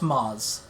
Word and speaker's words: Mads: yes i've seen that mads mickelson yeah his name is actually pronounced moz yes it's um i'll